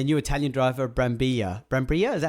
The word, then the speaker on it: Brambilla: Brambilla?